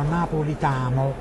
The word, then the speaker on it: Napolitamo: E quindi è nato un nuovo libro, Napolitamo, diciamo così, una parola con l'accento sull'A, perché io amo Napoli, quindi è controcorrente.